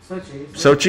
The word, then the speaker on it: Sochi: the winter olympics in sochi how do you pronounce that babe sochi has it got it right okay President Vladimir